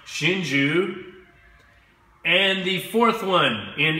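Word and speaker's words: Hsinchu: pronounced Jie the third one in English is pronounced Shinju and the fourth one in English is pronounced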